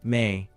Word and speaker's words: me: One of the most sophisticated concepts in Sumerian religious thought was the idea of the me pronounced may divine principles or decrees that governed all aspects of existence.